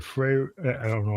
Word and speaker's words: Freawaru: Like Freawaru? I don't know how to I don't want to butcher it. Yes, so it's Freawaru.